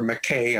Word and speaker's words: McKay: in in Raleigh so Americans call her McKay and um I met